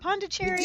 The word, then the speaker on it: Pondicherry: Pandicherry. That's it. Did I say it right? Pondicherry, India.